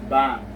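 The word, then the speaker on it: 방: part of the syllable, which will sound as NG or ing sound. So this word here is pronounced or is read as bang.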